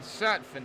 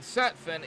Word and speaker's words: Sutphin: So, but a little bit of a kind of an insight here is Jason Dalton and Tanyan Sutphin. Tanyan Sutphin is Jason Dalton's nephew.